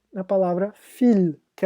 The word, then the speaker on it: viel: Volks, como na palavra Vater, e que é pai, e na palavra viel, que é muito.